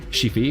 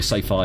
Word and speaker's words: sci-fi: I mean, I don't have a real interest in sci-fi, Shifi, sci-fi. I think sci-fi is the correct pronunciation.